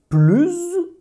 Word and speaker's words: plus: Et le troisième cas, tu prononces « plus », c'est-à-dire la liaison, quand tu fais une comparaison avec un adjectif ou un adverbe qui commence par une voyelle.